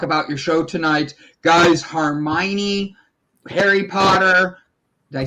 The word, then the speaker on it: Hermione: in to talk about your show tonight guys hermione harry potter did i say it wrong hermione i said hermione he said harmony but it's